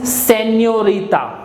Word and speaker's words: señorita: Miss is señorita. Señorita. Whenever we have this accent on the top of N, it gives ñ sound. Ñ. So all together this is señorita.